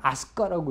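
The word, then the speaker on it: 明日香: 지금 이제 이렇게 명힐 명일향촌이라고 써놓고 읽기는 아스카라고 읽어요.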